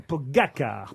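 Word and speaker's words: Pogačar: pour son premier tour, Pogacar, c'est son nom, Pogacar, pardon. Très bien prononcé.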